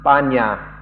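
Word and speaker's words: paññā: Like panya in Pali in Thai is pronounced banya, and some Thai people have a different understanding of that.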